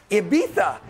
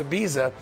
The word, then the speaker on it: Ibiza: pro athletes before season starts is no longer Ibiza as I was told you pronounce it I thought it was Ibiza but Cody's uh Cody told me it's Ibiza I'm very bougie now that now you guys